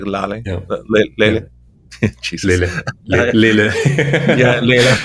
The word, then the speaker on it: Lehle: But it's a German company, and the German pronunciation is more like Lehle.